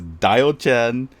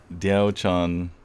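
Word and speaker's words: Diaochan: watching Zane's stream, and he says Dio-chan, Hyoga's Edge, Ryoma. I'm like, oh my god! Just shoot me! Just shoot me! You did call me out for being quiet. I was trying to do the right thing. I'm gonna make a video one of these days, just showing the pronunciation and just like tag Zane every single day. How to Say Words by. Yes. Diao-chan, Ryoma, but if you can't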